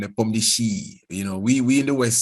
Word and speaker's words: Nepomniachtchi: And Kasparov told me they pronounce his name Nepomniachtchi. We in the West say Nepomniachtchi, they call it Nepomniachtchi.